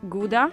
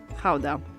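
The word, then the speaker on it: Gouda: this one behind me depending on whether you're a native you would pronounce it either GAA or Kaa so since we're talking about authentic Dutch cheese we're going to call it how the cheese takes its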